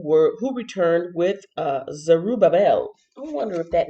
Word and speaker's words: Zerubbabel: dictionary and learn so the name is pronounced zerubbabel oh okay zerubbable and